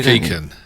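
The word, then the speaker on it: Doon Mackichan: Dune McKeegan is how Steve Coogan pronounces it.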